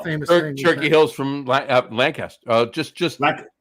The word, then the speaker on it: Lancaster: Turkey Hill's from Lancaster. Just Oh, you almost said it right. Lancaster. I stopped. There you Lancaster. go. You stopped yourself.